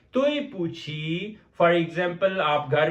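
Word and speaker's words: 对不起: Then we have a word तोय पूछी। तोय पूछी इट्स a little bit difficult, so आई am going to right the pronunciation.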